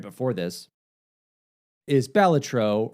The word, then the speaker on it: Balatro: right before this is Balatro, or Balatro, I think is the correct pronunciation, but Northern Lion calls it Balatro, so I'm going that way.